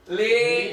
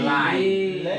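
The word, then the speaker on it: لي: Li atau li bertemu ya domir maka dibaca li. Li. Jangan lai. Li. Enggak boleh lai gitu kan.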